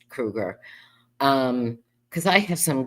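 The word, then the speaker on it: Kroeger: Everybody pronounce it Kroger, but it's Krueger.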